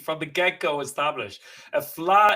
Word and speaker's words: Fleadh: or from overseas asking is how do you pronounce the word flaw so that's the language from the get-go established a flaw it's not just a festival but it's an